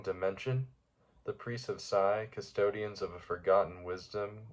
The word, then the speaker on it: Psi: The Priests of Psi. I think it's a silent P there.